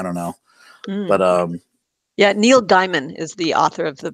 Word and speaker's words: Gaiman: It's Neil Gaiman, not Neil's.